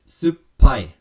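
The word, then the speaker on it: すっぱい: notice over here that the p is a double consonant and so what happens when you pronounce that it's supai so you almost have to pause and punctuate that double p sound one more time japanese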